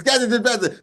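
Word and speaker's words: Skattebo: It's Scatterbo.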